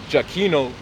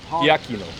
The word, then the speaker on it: Giacchino: So it says if you took Giacchino and read it as if it were a classical Latin word, the pronunciation would be completely different from the modern Italian one.